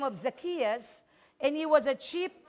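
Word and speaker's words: Zacchaeus: the life of zacchias it's not zus buse I I find the right pronunciation in greek word It's zias and is is the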